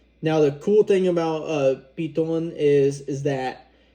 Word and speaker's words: Piton: I gotta say it like that because that's how they said it when I was in St. Lucia on my honeymoon. Now the cool thing about Piton is that it's only